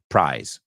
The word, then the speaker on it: prize: Prize se extiende y es una Z en vez de una S. So, prize rhymes with rise.